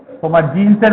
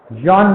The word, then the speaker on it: John: জন look, JEN, জিন বলবে না, জন, জন লুই, LOUIS, লুই এসটা সাইলেন্ট, জন লুই রোডল্ফ, আগাসিস, এদের কাজগুলো।